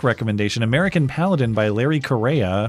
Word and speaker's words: Correia: New book recommendation, American Paladin by Larry Correia, if pronounced like the country. Oh, Korea, okay.